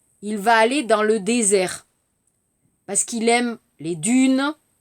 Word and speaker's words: désert: Attention, 발음, dessert, dijot, désert, samak. Attention.